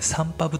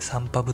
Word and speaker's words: SONPUB: ィスト名サンパブというんですが、はい、SONPUB と書いてサンパブと言いますが、は